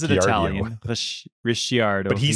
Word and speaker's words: Ricciardo: it's said you just yes so it's daniel ricciardo yeah i think it's actually spelled like ricky rdo yeah like almost like ricky